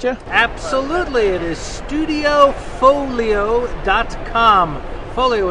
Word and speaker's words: Foglio: Folio is spelled F O G Lio.